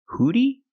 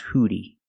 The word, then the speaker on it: hoodie: has a hood hoodie hoodie the word is not pronounced hoodie it's pronounced hoodie hoodie use a short uh sound like book and look good uh look at the